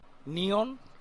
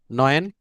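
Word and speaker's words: neun: স্যার আচ্ছা নিয়ন নিয়ন নয়েন তারপর হচ্ছে ভাই ওটা নাম ভাই আপনি আবার উচ্চারণ করেন ওটা নিয়ন না ওটা নয়ন নয়েন ভুলটা উচ্চারণ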